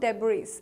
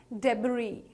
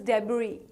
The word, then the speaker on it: debris: Not really, it's not debris. It's called as debris, right? So debris, the S in the end is silent, so it's called as debris.